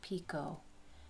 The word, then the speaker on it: picot: And then a chain 2 picot. And that is pronounced picot. The T is silent.